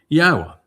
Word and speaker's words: YAHOWAH: YAHOWAH, which is the proper pronunciation of Yod-He, Wah-He, as directed by his Torah teaching regarding his high existence and our shalom restoration.